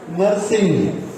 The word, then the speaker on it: नरसिंह: इसके 2 टुकड़े करिए, नर और सही नाम है ये है सही नाम, मगर इसको उच्चारण कैसे करते हैं? नर नरसिंह।